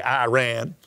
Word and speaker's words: Iran: But the prince of the kingdom of Persia, or Iran, is the right way to say it, so I say Iran, withstood me 21 days.